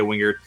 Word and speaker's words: Wengert: Give me a follow on X as well, at Wingert. My last name is spelled Wengert.